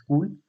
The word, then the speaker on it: CeWL: It is pronounced as cool.